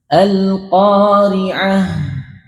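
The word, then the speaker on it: القارعة: Kalau belum belajar maka H-nya biasa ketika disukun teh. Al-qari'ah, mal-qari'ah, wa ma adraka mal-qari'ah. Enak ya. Tapi kurang pas huruf H-nya. Al-qari'ah. Ada aliran suaranya.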